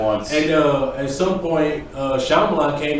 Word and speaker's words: Shyamalan: How do you movie that pronounce was. it? Shyamalan.